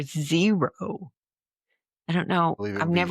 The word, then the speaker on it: gyros: So the first one got me because I say I say gyros and it should be euro or zero.